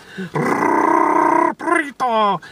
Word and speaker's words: burrito: Gotta roll your R's when you practice your Espanol. Burrito.